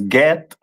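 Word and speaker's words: גד: Which is pronounced in the Hebrew as Get, and the meaning of it is troop.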